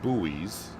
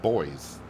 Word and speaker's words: buoys: Uh here in the states for the most part we say buoys. Uh, and now I'm just trying to guess the way John says it from where he's from. Uh, but the way he typed it, I would presume you pronounce it boys. So, buoys or boys or whatever.